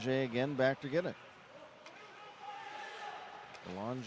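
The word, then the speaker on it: Bélanger: back to get it Balan spelled like Banger b e l a n g r but has the French pronunciation here's Logan Wells for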